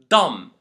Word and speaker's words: dumb: We don't pronounce the letter B in 2 cases. The first case is when it comes after an M at the end of a word, like bomb, dumb, lamb.